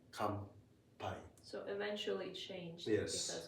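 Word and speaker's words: 乾杯: Come pie. I'm sure you've heard this word. Uh probably like when you cheers. Mhm. Yes. Kai. Kai. Okay. Okay. Even though it's written, it's actually pronounced like M.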